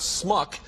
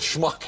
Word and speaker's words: schmuck: He's trying to teach Warren Beatty, who's from Wisconsin, I believe, the pronunciation of the word schmuck, which is not smuck, but schmuck.